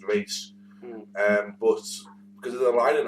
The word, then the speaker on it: Ra's: That's not Raz, it's Rage. I believe it's because they say it on the animated series, and that's how was it Paul Dini or Tim?